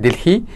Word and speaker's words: Delehei: His name pronounced Delehei. The meaning of the name is that world, Earth, planet. Okay, the Earth, the planet. Yeah. Okay, now I'll get it right. Delehei.